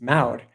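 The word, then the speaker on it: mawr: And it's even pronounced in, they'll say the Welsh counterpart is M-A-W-R, but you recognize that U-V-W interchange, it's Maud.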